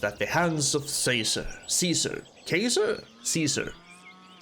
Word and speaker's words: Caesar: Caesar. I think you usually pronounce it Caesar. It can also be Kaiser. But we'll go with Caesar.